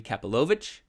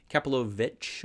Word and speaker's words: Kapilovich: I wasn't sure if it was Kapilovich or if it was Kapilovic. Yeah, So there was one. you got it. Yeah, but Well Kapilovich, done. for everybody's watching, if you're wanting to know how to pronounce Kapilovich and Associates, that's how you do